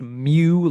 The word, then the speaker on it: mu: So, it's pronounced mu like M for mammal.